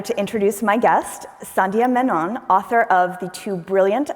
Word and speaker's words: Menon: from trinkle With Love Menon is an active Twitter account where she reminds her readers that her name rhymes with stunni Ameland which i think is